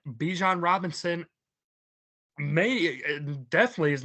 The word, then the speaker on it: Bijan: People have to realize that Bijan. Well, I think technically his name is pronounced Bijan.